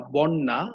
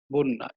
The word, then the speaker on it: বন্যা: আমরা বলি না বন্যা, আমরা বলি হচ্ছে বন্যা, এটা হচ্ছে শুদ্ধ উচ্চারণ।